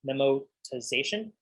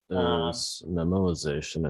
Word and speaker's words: memoization: so i think the official term for what you're describing is called memorization i have trouble pronouncing it uh whereas there is uh so what is it memotization i think is the buzzword memoization tabulation yes so fibonacci